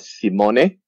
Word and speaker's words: Simone: I call him Sim One. So look at his name. It's S I M O N E. Sim One. So I got the pronunciation. It's correct. It's correct.